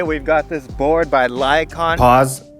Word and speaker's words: Lycaon: Today we've got this board by Lycaon. Pause. It's Lycaon, and I mispronounced it a couple of times in this video.